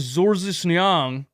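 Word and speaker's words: Georges Niang: went with George nyang to pronun to pronounce it in in his father's native language Young Doc Rivers went with zorsnyang at Center in an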